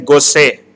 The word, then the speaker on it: Gosset: Fifth one is Gosset. Here T word is silent.